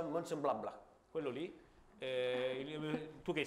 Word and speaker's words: Mönchengladbach: Si pronuncia Mönchengladbach.